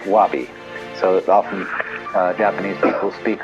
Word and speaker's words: wabi: that goes along with something that rhymes with it wobby so often Japanese people